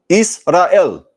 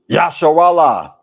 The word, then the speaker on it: Israel: In the Greek Septuagint, the name Israel was written like this and is pronounced Israel. Israel. Israel. It is not Yasharallah.